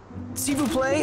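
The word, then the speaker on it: s'il vous plaît: the boat and tie it down seeu play SIU play is how you say please in French of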